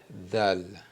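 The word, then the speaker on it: دال: Donc ça c'est dal. OK ? Dal da z dal. Ensuite la lettre R en arabe s'écrit comme ça comme l'arc.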